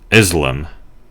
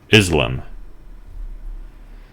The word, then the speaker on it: Islam: of islam in english differing in whether the first or second syllable has the stress whether the s is